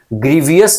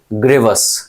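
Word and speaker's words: grievous: तो इस बात को याद रखिएगा, ग्रीवियस नहीं ग्रेवस। क्या बोलेंगे? ग्रेवस।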